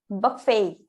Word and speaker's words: buffet: yeah in both language there is no tea no there is tea always gets dropped but the way that an American would pronounce and we uh britisher would pronounce it will be completely different so this is buffet buffet buffet buffet Buffet yeah just remember that that's that is there's a subtle stress on the last part but fail when they